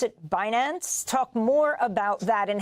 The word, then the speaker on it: Binance: billion dollar investment in the crypto exchange, you pronounce it, Binance.